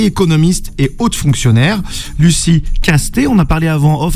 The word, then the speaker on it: Castet: Lucie Castet, on a parlé avant off et non pas Castets, ça, Castet. Castet, ouais. Castet, puis il y avait l'ancien ministre Castex, c'est Castet, merci, parce que je vais